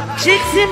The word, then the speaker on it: Chixon: Chixon Baba.